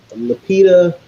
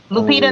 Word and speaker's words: Lupita: Is it Lapita? I always say her name wrong. Lupita Nyong'o.